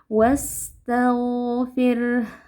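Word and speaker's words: وَاسْتَغْفِرْ: Wastaghfir. Kemudian huruf ra di sini, ra-nya dibaca tipis karena huruf di belakangnya berharakat sukun asli, kasrah asli. Ya, jadi ra sukunnya kita baca tipis, fir, jangan dibaca fir.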